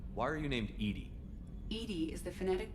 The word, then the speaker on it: EDI: is a jar why are you named Ed Ed is the phonetic pronunciation of e that is an acronym for